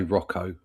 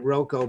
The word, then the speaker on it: Rocco: Oh, I would say that's I would I would say Rocco. Yeah, Rocco. All right, it'll be Rocco then. I always pronounced it Roco because of the double C, but then I ran